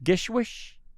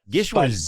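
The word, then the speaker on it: GISHWHES: So I'm going to call it Gishwas. Gishwas. What did you call it? Gishwas, I think. Gishwish? Yeah, I mean, I put a little bit more of a wez at the end than a whoosh. Gishwas.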